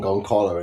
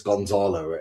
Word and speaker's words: Gonzalo: I I I keep saying Gonalo and it's Gonzalo and and I I keep pronouncing it wrong.